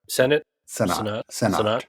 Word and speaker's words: Sennott: It's the new, I was supposed to look up how to pronounce her name, but Rachel Sennott. That's right. Sennott.